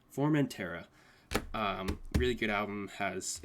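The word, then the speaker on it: Formentera: formant tara okay yeah i always like can't pronounce that but it's formantera um really good album has it all comes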